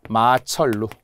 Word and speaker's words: 마천루: 하늘에 우뚝 솟아 있는 건물들 말이에요 얘는 유화에요 마철로 그죠 리을 리을로 가는 원칙입니다 원칙 한자어 마철라서